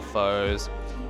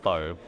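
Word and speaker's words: phở: So, there's the proper way of saying pho, and there's how everyone else kind of says it, which is just pho, as it is spelt. I like saying pho because it kind of annoys a lot of people, but if you want to say it the right way, it's pho. So think of F-U-R, but with the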